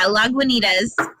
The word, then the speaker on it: Lagunitas: Yeah, Lagunitas.